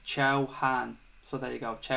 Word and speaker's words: Chauhan: bright future excuse me it's pronounced Chow Han so there you go